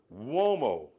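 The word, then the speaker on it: Umo: Mario womo. Mario. U M O. It's Italian, so it's pronounced.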